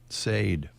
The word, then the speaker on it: Sade: Sade. Remember Sade in 1984? Sade, maybe? Sade. Oh, Sade. Sade, Yeah. Yeah. Sade.